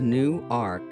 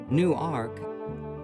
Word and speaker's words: New Ark: a silent acceptance and it has been new Ark ever afterward although never pronounced as Newark New Jersey perhaps the name new